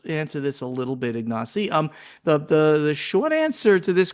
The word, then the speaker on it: Ignacy: I think that he wrote it how it should be pronounced. Okay, Ignacy.